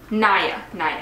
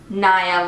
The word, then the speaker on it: NIA: Naya. Because I remember the email they sent me and it said Naya like Maya.